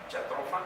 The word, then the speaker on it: Jatropha: de Belice, de Guatemala, para evaluar la famosa jatropha, porque así se pronuncia, Jatropha curcas, una euforiácea cuyos aceites tuvieron un gran impacto para la producción de biodiesel.